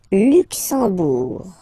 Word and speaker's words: Luxembourg: Okay, final G not pronounced, and then when you combine this M here, you get the sound en. You don't pronounce the M at all, it's this nasal en, okay?